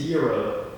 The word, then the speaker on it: gyro: I need to correct our hit. It's a euro. It's gyro.